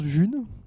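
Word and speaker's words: Ğ1: depuis mars de l'année dernière et elle se prononce Jules et donc elle est utilisée elle est créée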